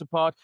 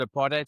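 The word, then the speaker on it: apartheid: half for two months apart. So it was September to December, October to December. Right. So on Andrew's side, uh the you guys call it a part, we pronounce it a partate.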